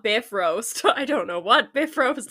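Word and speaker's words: Bifröst: it from the website it says pronounced roughly b-i-f--dub Dash r-o-a-s-t which is if that's not Biff roast I don't know what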